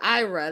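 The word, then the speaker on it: Ayra: See, I was pronouncing it right earlier. Ira, that's her name.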